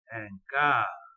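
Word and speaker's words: quart: طب ان ديبو وان كار، حد يقول لي الله انت ليه ما نطقتش حرف التي هنا وحرف التي هنا؟ هقول له باختصار شديد انه انا قلت قبل كده الحرف الساكن في نهايه الكلمه لا ينطق بصفه عامه.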